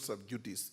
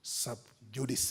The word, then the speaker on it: sub judice: sub judice a fact it's not sub duties it's pronounced sub judice a mr.